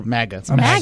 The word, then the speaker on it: MAGA: MAGA. How did you get this far? It's like GIF and GIF. No. No, it's not. It's MAGA. MAGA. They're both. Wait, really? They're both with a hard G.